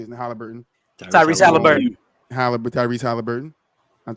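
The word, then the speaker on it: Haliburton: Halliburton, there you go.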